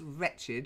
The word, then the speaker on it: wretched: so here we have the word wretched with the W that's wretched you wretched thing you